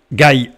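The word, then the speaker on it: גיא: qui se prononcent pareil, puisque la lettre finale Aleph ici ne se prononce pas, donc on a Gaï ou Gaï.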